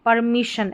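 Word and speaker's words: permission: अब इसमें भी SSION है, इसको भी शन पढ़ना है। जैसे PER को पर, MI मी और शन, परमिशन, ऐसे बड़ी स्पेलिंग रहेगी ना।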